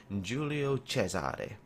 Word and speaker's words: Giulio Cesare: In today's video, I'm going to be talking about and I'm going to try this in the Italian pronunciation, Giulio Cesare, the Italian premium tier 5 battleship that is currently being tested, I believe, on the ST server.